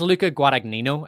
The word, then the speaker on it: Luca Guadagnino: So this is Luca Guadagnino. I think that's how you pronounce his name.